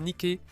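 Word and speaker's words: Nike: Le nom de cette déesse, d'ailleurs, peut être prononcé comme Niké ou Nick.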